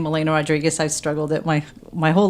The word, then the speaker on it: Rodrigues: And then Rodrigues, and I always say R-I-G-U-E-S as in Sam. So it's not confused with a Z at the end.